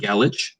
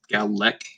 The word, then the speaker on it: Gallach: was talking about Gallic, it's spelled Gallach. I do not want Gallich, or my wife even pronounced it Galesh. I was like, no, it's Galec.